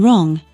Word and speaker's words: wrong: in know g h in right W in wrong H in ours u in guess 3.